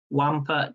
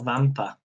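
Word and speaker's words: Wampyr: The answer, it was Count Wampa, but it's spelled Count C-O-U-N-T, Wampa, W-A-M-P-Y-R, Count Wampa, or Vampa, which probably means vampire.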